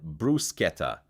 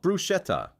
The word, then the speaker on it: bruschetta: Bruschetta is said bru-sket-ta, not bru-shet-ta.